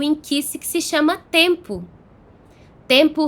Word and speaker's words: Nkisi: E aí tem várias maneiras de se escrever, mas uma das mais comuns é N-K-I-S-I. N-K-I-S-I, Inkisi.